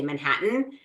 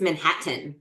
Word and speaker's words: Manhattan: Like I say Manhattan, and he's like, it's Manhattan. Like there's two T's. Why are you not pronouncing either of them? And I'm like, because nobody pronounces them.